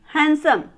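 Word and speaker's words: handsome: यहाँ पे देखिए यहाँ पे डी साइलेंट है तो इसको क्या पढ़ा जाएगा हैंडसम, और यहाँ पे बी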